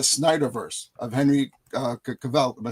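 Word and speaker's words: Cavill: There were um fans of of the Snider verse of Henry uh Caval. Am I saying it right? Cavvel.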